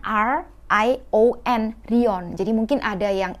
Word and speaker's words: Rion: Jadi Rion itu bacanya R-I-O-N, Rion.